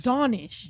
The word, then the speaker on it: Danesh: No, it's cuz I don't want to mess up how I pronounce it. It's okay. Oh, all right. I'll help you out. It's Danish.